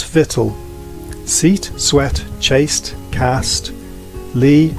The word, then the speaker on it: victual: Though the difference seems little, we say actual, but victual.